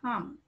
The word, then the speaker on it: harm: You're just saying harm. So R is silent.